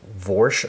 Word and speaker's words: Woyrsch: vorsh Army I guess if it would be pronounced German wise if that's the way you do a w I don't know I've been saying warsh for so long though I'm just going to go with warsh I guess so this